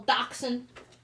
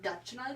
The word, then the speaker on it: dachshund: my condition on C for the longest time I pronounce it Dutch Knight uh I was just gonna say I said dashing like dashing through the snow hold on a one-horse